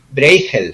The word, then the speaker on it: Bruegel: un cintan que llamado se escribe bruegel y se pronuncia Breaker según lo procesa la holandesa o a La alemana allí dan datos de cómo